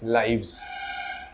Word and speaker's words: lives: তো লাইফের এফটাকে উইথড্র করে আমরা LIVES, লাইভস। বোঝা গেল? উলফ, WOLF, শেষে এফ আছে, উলভস, WOLVES, উলভস। বলার সময়ও তাই আমাদের উচ্চারণটা চেঞ্জ হয়ে যাবে, উলভস, লাইভস, রাইট?